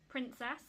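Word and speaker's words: PrinceSass: And this one is in the shade princess, but it's spelled prince and then sass. So princess, but spelled princess.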